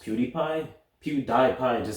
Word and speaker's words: PewDiePie: least create a rise whew sigh it's actually pronounced PewDiePie pewdie iPods it sounds stupid you can fix